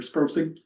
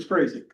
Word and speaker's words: Sprasing: My name is Sprasing or Sprosing, however you want to do it. I grew up up DuPont and Dad was from sales and they pronounce it Sprasing, okay?